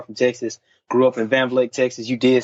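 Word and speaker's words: Van Vleck: Grew up in Van Vliet, Texas.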